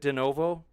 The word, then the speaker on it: de novo: they said how does standing for truth explain denovo gene birth hopefully I pronounced that right is it de novo yeah de novo gene synthesis see once again